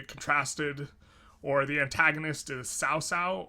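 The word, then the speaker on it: Cao Cao: or the antagonist is sao sao or cow cow not 100 sure um i think cow kyle's like the americanized pronunciation but sao sao is uh more correct um he's portrayed as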